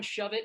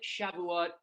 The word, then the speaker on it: Shavuot: Shove it, Shavuot. Stop trying to pronounce our holidays.